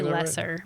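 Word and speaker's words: Loesser: I would say lesser. Lesser. Okay, let's go. L O E S S E R. I think when you have those two vowels together, usually you might pronounce the second one if it's German.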